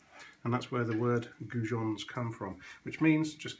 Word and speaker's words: goujons: going to make turkey gons gon actually comes it's a French pronunciation of a fish that we have in the UK well in Europe mainly in the UK and in France called a gin and there are gin